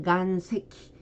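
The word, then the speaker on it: 岩石: 자, 석유할 때는 세키유, 암석할 때는 간세키, 자석할 때는 지샤크로 발음을 합니다.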